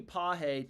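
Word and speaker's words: Pages: Andy Pahe to get a hit. I learned yesterday that's how you pronounce his last name. So let's see here. Pahe to record a hit.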